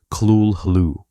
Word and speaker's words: Cthulhu: Lovecraft claimed that the correct pronunciation of Cthulhu could not be rendered in human speech, offering instead approximations like Kulhu.